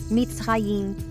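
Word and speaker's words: מצרים: sua primeira aparição bíblica como misraim ou conforme pronúncia mits raim Como podemos observar aquele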